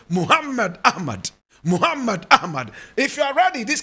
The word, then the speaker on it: Muhammad Ahmed: about some people will say Muhammad Ahmed correct pronunciation Muhammad Ahmed Muhammad Ahmad if you are ready this class will last